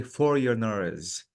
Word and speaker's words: foreigners: This word, Jamila, the G is silent. So I have to say foreigners.